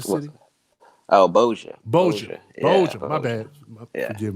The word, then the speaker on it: Bossier: How do you pronounce it? Bosnia City. Oh, Bossier.